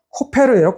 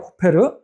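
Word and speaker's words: כֹּפֶר: 자,이 말씀에도 중요한 의미가 있는데이 역청이라는 히브리어 단어가 코페르예요. 코페르. 아까 그 고페르나무하는 발음만 좀 비슷할 뿐이지 전혀 이제 다른 단어입니다.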